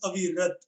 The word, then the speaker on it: Avirat: uh, First of all, my name is pronounced as Avirat.